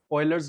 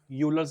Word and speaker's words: Euler: Let's see the next वेरीेंट relation we is called ऑइलर्स line या फिर इसकी प्रोनाउंसिएशन कुछ लोग यूलर्स लाइन भी कर देते हैं।